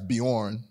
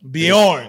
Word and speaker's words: Bjorn: business bees all right so so I I pronounce it right it's beorn beorn it's a Swedish name even though I'm not